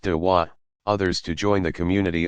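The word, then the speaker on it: دعوة: Proselytizing is called inviting, dwa, pronounced dawa, others to join the community of Islam.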